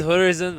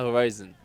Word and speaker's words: horizon: كلمة هوريزون ما اسمهاش هوريزون، اسمها هورايزون، ده أفق.